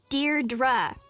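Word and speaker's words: Deirdre: Dear Dra, I know it's got that tricky second syllable, but I figured it out by age 2.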